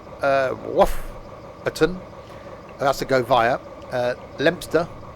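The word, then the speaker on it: Leominster: Lempster. Don't pronounce it wrong. Locals won't like you.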